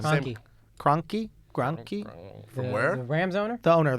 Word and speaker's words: Kroenke: Cronky. Cronky? Grunky? From where? The Rams owner? The owner of the Rams. Oh, Stan Kroenke.